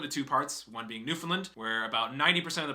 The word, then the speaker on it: Newfoundland: guys pronounce it newfoundland newfoundland the emphasis on the new not the finn which is like an fn not even an eye because i pronounced it new finland before but all the